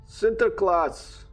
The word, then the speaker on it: Sinterklaas: center class center class dutch pronunciation is a legendary oh santa claus sinterklaas can you hear amber